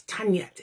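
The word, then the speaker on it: tynged: Now, a Tanyet is, again, sorry about the Welsh pronunciation there, it's spelt tinged, but it's Tanyet, and it's a bit like the Irish Gaius curse.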